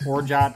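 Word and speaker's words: orgeat: Okay, it's actually pronounced orjat, I think, but I don't have any anyway, so at my house, that's where it's the orgy at.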